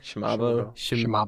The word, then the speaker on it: Shimabo: Shimabo. Shimabo. Shimabo. Well, the reason why it's Shimabo is because it's shortened to Mabo. If you look at the signature, it's Mabo.